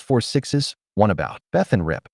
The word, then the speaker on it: 6666: There are also several others in the works, including 1944, The Madison, 6666, pronounced 4 sixes, One About, Beth and Rip, Wheeler, Cole Hauser, and One About.